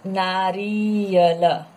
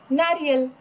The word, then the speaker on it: नारियल: यह है नारियल, नॉट नारियल, नारी नहीं बोल सकते हैं. र में प्रोनाउंस करते वक्त, री प्रोनाउंस करते वक्त फिर से यहाँ कम टाइम लो और प्रोनाउंस करो, उच्चारण करो, नारियल.